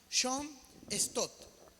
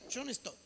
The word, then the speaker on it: John Stott: Soy muy malo para pronunciar los nombres en inglés, pero por ejemplo este hombre se llama John Stott. Así se pronuncia, está bien, John Stott.